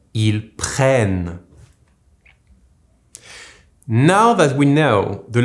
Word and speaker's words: prennent: For the last one, with the plural il or they in English, the double n followed by the silent ent will turn into the sound n. This is why we say ils prennent.